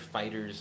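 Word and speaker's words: FighterZ: want to call it I've heard fighters as the correct pronunciation but the show is called Dragon Ball Z so it kind of always makes me want to call it Dragon Ball fighter Z doesn't matter I would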